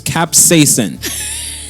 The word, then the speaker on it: capsaicin: It's capsaicin. Hold on, one more time. Capsaicin.